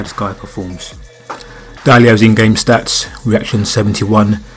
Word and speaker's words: Diallo: video now as you can see I've got dialogue that's how you say his name man and